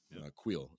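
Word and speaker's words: Kuiil: not die uh like Quil is a great example Quil I should say that's how they pronounce his name so yeah guys this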